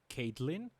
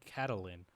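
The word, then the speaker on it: Catelyn: i'm pretty sure it's i always pronounced it caitlyn but i've been told that it's apparently catalin so you know i guess cattling it is okay okay so let's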